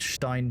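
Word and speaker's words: Stijn: Um but yeah, I would 100% recommend um if you like the music Stein Van Waker and it's S T I J N if you're wondering how that's spelled.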